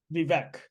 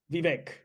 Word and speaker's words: Vivek: it's vivec we got to be Sarah correctly vivec no he it should be Vic Vivek yeah that's how his first name is pronounced so we'll give him he made that